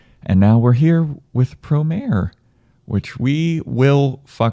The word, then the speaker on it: Promare: was very enjoyable and now we're here with pro mayor which we will up because we've been pronouncing it promari for the longest time and it's just ingrained